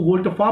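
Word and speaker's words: volte-face: सो यू can remember it with वोल्टफेस, जिसको वोल्टफा बोला जाता है. Real pronunciation of the term is वोल्टफा.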